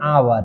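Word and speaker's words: hour: तो इसको बोलेंगे एन आवर।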